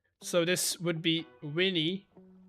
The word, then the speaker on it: veni: So we would read this in English as veni, vidi, feci, right? But a V in Latin is pronounced as a W. So this would be Winnie, Widdy, Wedgie, as in a wedgie.